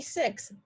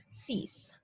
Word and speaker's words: six: is wait for it looks like it would be six but in fact it's pronounced cease seven is set you